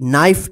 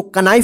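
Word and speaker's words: knife: एन आई एफ ई नाइफ इसको कना मत पढ़िए के यहां पर साइलेंट है जब हम साइलेंट लेटर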